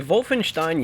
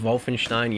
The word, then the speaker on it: Wolfenstein: so vol Finch Stein Youngblood I wanted the call at Wolfenstein Youngblood but I figured the actual pronunciation is so much more satisfying to say than Wolfenstein so I'm just gonna